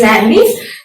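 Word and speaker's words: Landé: We pronounce it as Landy.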